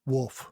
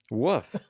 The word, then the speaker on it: wolf: Woof. Woof. They say woof. They would say woof in the fold. And they don't say woof in the fold. They pronounce the L in the fold.